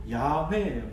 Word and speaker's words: 야훼: 그런데 더 철저하게 이 두 자음과 모음을 합쳐서 제대로 발음을 하면 여호와가 아니고 야훼예요. 야훼가 되는 겁니다.